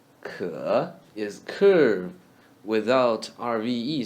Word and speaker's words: 可: Ke is curve without RVE sound read in the third tone. Curve. Ke. Ke.